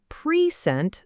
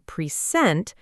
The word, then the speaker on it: present: sounds like pre, but in pre-sent, the first part almost disappears. It becomes a very quick, soft sound. Exactly right. When a syllable is not stressed, English speakers often say it quickly and softly, almost like "puh" instead of a full, clear sound.